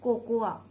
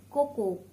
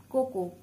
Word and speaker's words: cocoa: Number tenth and the last one is cocoa, not cocoa, cocoa, cocoa.